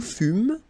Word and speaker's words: fûmes: Okay, then nous fûmes, final S not pronounced.